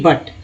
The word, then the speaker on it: but: जैसे BUT बट, यू को क्या बोलते हैं, अ बोलते हैं। BUT बट में यू का उच्चारण क्या हुआ, अ हुआ।